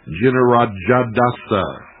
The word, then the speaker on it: Jinarajadasa: Jinarajadasa, and I have never been able to pronounce that name, spelled J-I-N-A-R-A-J-A-D-A-S-A, Jinarajadasa, who was the president of the society for many years, since 1945.